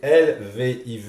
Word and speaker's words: Lviv: Alors, c'est Lviv et ça Oui, se prononce comment? Et ça, Lviv.